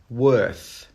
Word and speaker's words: worth: Worth, worth. When you pronounce this one, your tongue should go between your teeth at the end of the word, like this.